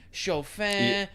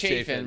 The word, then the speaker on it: Chafin: Remember we did it right before it was Chafin, right? Chafin. Okay. Yeah, Chafin right there.